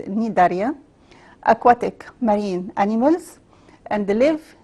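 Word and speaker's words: Cnidaria: the second phylum is called nidaria sometimes we pronounce its nidaria but it's nidaria aquatic marine animals and live individually or in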